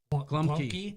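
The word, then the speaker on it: gołąbki: Well, I know it's spelled Globki, but Glumki?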